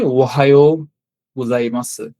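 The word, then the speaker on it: おはようございます: হ্যাঁ, এটা একটু মিলিয়ে দেখবেন যে ওহায়ো গোজাইমাসু। এখানে আসলে কিছু জিনিস ব্যাখ্যা করার মতো আছে। যেমন এখানে সু এর উচ্চারণটা সু হবে না।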